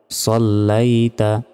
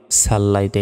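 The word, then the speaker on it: صليت: সলাইতা অনেকে আমরা বলি সাল্লাল্লাইতা এটা ভুল সলাইতা কামা সলাইতা আলা এলাতে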